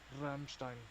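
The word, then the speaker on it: Rammstein: It's Ramstein. I can't roll my tongue like that.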